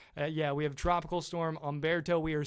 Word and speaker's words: Umberto: We now have Umberto out there, and yes, that is how you say it, Umberto. Not Humberto. Not Humberto.